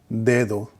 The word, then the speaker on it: dedo: Well, when the D is at the beginning of a word, it always has that d sound, d, dedo.